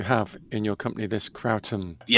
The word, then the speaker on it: kratom: This kratum. Yes. We deal with traditional leaf from Indonesia. No synthetics, nothing, just all natural. Tell me more about and and am I pronouncing it correctly? Catum.